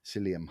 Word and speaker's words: psyllium: supplement, a stuff called psyllium husk. It's spelt with a P, Psylliu, something like that, psyllium husk. And that, I used to